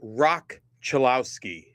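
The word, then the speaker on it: Roch Cholowsky: It's uh it's Rock Chilowski is how it's pronounced.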